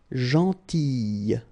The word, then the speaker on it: gentille: Same thing here, gentille, okay, so remember to pronounce this E, gentille, okay.